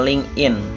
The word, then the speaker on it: LinkedIn: LinkedIn atau dibacanya LinkedIn.